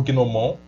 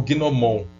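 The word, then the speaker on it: gnômon: Bom, iniciando essa discussão sobre as sombras, vamos começar por esse objeto, o gnomon ou gnomon. Considerando que tem um acento circunflexo, é gnomon, mas muitos pronunciam simplesmente como gnomon.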